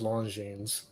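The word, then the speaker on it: Longines: only because i heard you're not supposed to say the s but that could be a bunch of crap so i'm just going to say longine as a as a guest that's hard to remember yeah i don't think long gene but then if i review a long gene after a while it becomes long genes yeah so it is actually long gene uh so you don't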